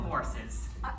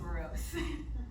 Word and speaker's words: Morris: You must be one of the Morrises. It's actually pronounced morose.